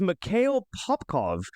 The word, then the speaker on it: Mikhail Popkov: His name was Mikhail Popkov. I believe I'm pronouncing that right. m i k h a i l p o p k o v.